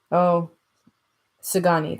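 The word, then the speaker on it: Szgany: All the time, Sagani, that's how you pronounce that.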